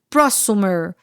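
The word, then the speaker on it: prosumer: Então, é um termo híbrido que junta produtor, consumidor, que a gente pronuncia prossumer, que seria o producer e o consumer, tá?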